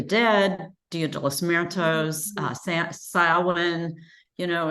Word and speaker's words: Samhain: It's spelled Samhain. uh-huh. It's pronounced Samhain.